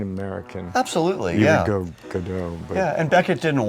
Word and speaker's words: Godot: And for anyone wondering on how to properly pronounce his name, I grew up saying Godot, Godot. Godot is a natural American pronunciation, right?